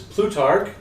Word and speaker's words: Plutarch: just making it for June and it is plutar did I pronounce that right everybody yes yes tar and